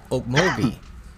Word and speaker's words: Okmulgee: This street, one of the main streets that drive east and west on, is called Okmulgee, but it looks like Okmulgee.